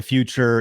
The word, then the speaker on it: Futur: i run is called the future and the future is spelled without an e it's f-u-t-u-r so if